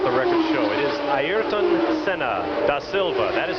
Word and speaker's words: Ayrton: In Portuguese they pronounce him Piquet. Jean Alesi. Emanuele Pirro. First of all, it's not Ayrton like all Americans or English people used to say, it's Ayrton. And uh so it's Ayrton Senna da Silva.